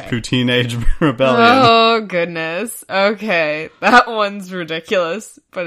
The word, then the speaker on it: Pouteenage: second one is the poo teenage rebellion you don't even say it right routine and yeah I know but that doesn't work with the pond now I know so it's routine age okay ridiculous but it's